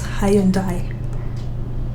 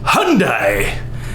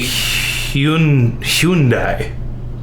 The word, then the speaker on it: Hyundai: So the next one is a car that in Kenya I would pronounce as Hyundai. Hyundai. Hyundai. Hyundai. So in America, we don't pronounce it correctly in America either. We say Hyundai.